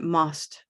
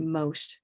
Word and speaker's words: most: one rose boat most otherwise it can become something like most like that and must must and it's starting to sound strange um so we want most okay how about motivated